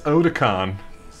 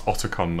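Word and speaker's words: Otacon: and you're in the back of it where's oda khan well she's never met him she doesn't know how to pronounce everyone else in the game says it's otakon though oticon where's oda khan oh tokan he's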